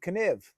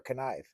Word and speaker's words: Kniv: be using a Mora, from what I believe, Kniv is how it's pronounced. And I think that's the way it is because I heard Dave Canterbury, after meeting with one of the representatives from this company, I think we've been pronouncing it. I've been calling it Mora Knive.